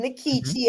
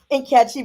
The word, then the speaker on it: Nkechi: And so I decided to keep my pronunciation Mhm. Nikichi as opposed to Nkechi because I theorized, well, our tongues have been colonized and Yes.